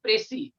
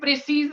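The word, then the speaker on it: précis: The name of the topic is Pressy writing. Don't call it Pressy writing. In Punjabi it is Pressy, but in English it is Pressy. Pressy writing. Don't call it Pressy's writing. S will be silent here.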